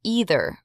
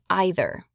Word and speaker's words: either: In the US, you will hear either most often but some people say either. Both are correct.